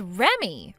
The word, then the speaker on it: Remy: You're supposed to read that as Remy. Remy? So, your name is Remy? It's spelled Re, but you read it like Remy.